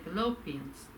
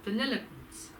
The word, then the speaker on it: Vanilliquins: I kept saying fallopians. It's actually pronounced vanilliquins, as in the ice cream, vanilliquins.